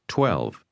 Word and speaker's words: 十二: Some e 12 is pronounced with a lowle tone. Say again 12.